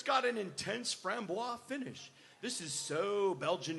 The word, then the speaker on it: Framboise: a bit horse blankety I always thought that Framboise I always pronounce that from Boise yes yeah and I